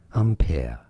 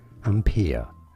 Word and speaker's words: ampere: this is generally said one of two different ways either in british english ampere ampere or in american english ampere and pia which one is the closest to the french certainly the british english pronunciation ampere is way closer to the french on pere or the original name and now you know